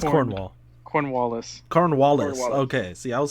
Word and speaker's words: Cornwallis: Cornwallis. Cornwallis. Okay. See, I was saying it like mixed up with everything else. So Cornhole. he goes to Cornwallis's little base with the dogs, which is Secret base.